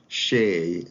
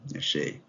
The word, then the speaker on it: Xie: Xie, I think the best approximation is the Shea Stadium in New York. If you heard about that, okay, it's pronounced like Shea. It's closest to the Chinese name, Shea.